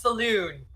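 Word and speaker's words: Selûne: Now, we know that's not true because it's totally pronounced saloon.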